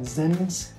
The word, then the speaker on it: Zens: So you've got Zens, I mean, that's how you pronounce it.